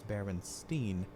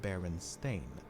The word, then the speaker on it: Berenstain: of anthropomorphic bears however many remember the name as berenstein and not baron stain i also find it